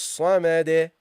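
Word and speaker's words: الصمد: The dal, we drop the case endings and we pronounce this as non-voweled and give it a bounce. Allahus samade. Allahus samade. Samade. Okay, that's how you pronounce it.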